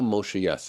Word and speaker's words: Yess: His stuff only got recently put back on the internet, so if you haven't checked out, YESS, second S is silent.